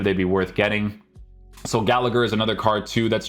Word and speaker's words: Gallagher: So it is helpful that I was about to say I'm not pronouncing his name correctly. Gallagher.